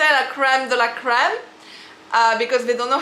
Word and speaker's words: crème de la crème: So I say in French because we use the R. In French, we really emphasize to the R. It's the way you pronounce the R, okay, we R. But my friend, and when I heard in America, it's like crème de la crème, okay, la crème de la crème.